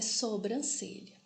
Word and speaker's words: sobrancelha: então correta e freada e sobrancelha o certo é sobrancelha então a ortoépia é